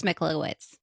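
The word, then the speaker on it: Michalowicz: Profit First is a cash flow management system created by Mike Mike Mikawitz. Mika Mike, how do you say your last name? It's Michowitz. I'll spell it like right here for you.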